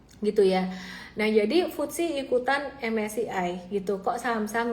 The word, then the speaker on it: FTSE: Foodsi tulisnya FTSE ya. Jadi aku bacanya Foodsi gitu.